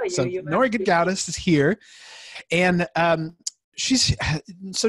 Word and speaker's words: Gedgaudas: It's pronounced No, Gedgaudas.